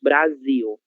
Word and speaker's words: Brasil: Letra L no final de sílaba sempre, sempre terá som de U, ok? É por isso que nós falamos Brasil, né? Ainda que não tenha a letra U no final, nós pronunciamos como se houvesse, ok?